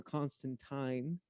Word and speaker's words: Constantine: Constantine or Constantine, as I'm told it's actually pronounced, but fuck it, I'm American.